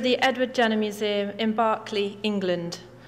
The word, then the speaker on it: Berkeley: edward jenner museum in Barclay England a historic town which lent its name to the Roger larger Berkeley California the pronunciation has been lost somewhere it is a privilege